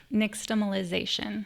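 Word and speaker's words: nixtamalization: Brandon, help me pronounce it first before I ask anything. Niximalization.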